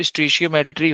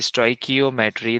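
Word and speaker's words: stoichiometry: तो एक तो स्टिशियोमेट्री होती क्या है? स्टिशियोमेट्री में हम करते क्या हैं? तो बेसिकली इन स्टिशियो मेट्री और वी कैन से स्ट्राइकियोमेट्री the same thing अलग-अलग लोग प्रोनाउंस करते हैं इसे।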